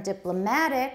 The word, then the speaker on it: diplomatic: other countries good and from diplomatic stress on the third syllable the switch sorry the